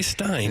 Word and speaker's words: Stein: That's from listener, and I think I can give his name, Christopher Stein. Or is it pronounced Steen? Doug? I would say Stein.